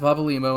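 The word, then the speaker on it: Papalymo: am I supposed to I can get the papa and the mo yeah limo okay so Papa limo and I are actually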